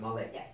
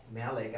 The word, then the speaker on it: Malek: k or m e this is how you pronounce it Malik Malik I'm like why you having that swag on